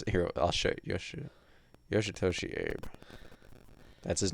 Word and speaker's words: Yoshitoshi ABe: the story for it yoshitoshi ape yes yes am I not pronounce it here I'll show you yoshitoshi Abe that's his name he pronounces it Abe at the end oh I think at